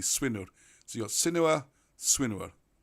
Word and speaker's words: Swynwr: Actually, if I say it properly, Swinwr.